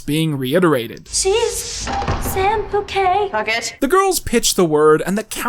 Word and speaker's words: Puckett: Pronounced bouquet, dear. Cat Valentine and Samantha Bouquet? It's Puckett.